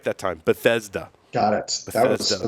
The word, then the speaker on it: Bethesda: Bethesda Maryland I said it right that time Bethesda got it that was the mouthful you did